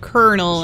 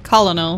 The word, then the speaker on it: colonel: time pronouncing it but why do they say like colonel and not like colonel these people are not